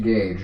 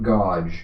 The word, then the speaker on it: gauge: And yes, it's pronounced gauge, not godge.